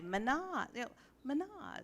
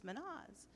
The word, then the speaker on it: Mehnaz: of the roster and she would start saying my name like a motor and and then the class would say Mahna Mahna is of course its Mehnaz so it was like